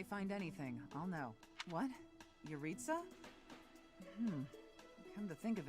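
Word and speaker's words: Jeritza: anything i'll know what yaritza hmm come to think of it i haven't seen him today yurita's name is pronounced without the j yeah it was jurisa nope that's fair i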